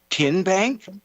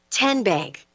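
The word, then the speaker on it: TNBank: Tin Bank. Uh-uh. So, what is it? Tenbank. 10 as in Tennessee.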